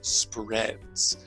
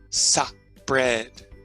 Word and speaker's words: spread: with me spot spot I know a lot of people might make the mistake of turning this into a two syllable word saw bread okay this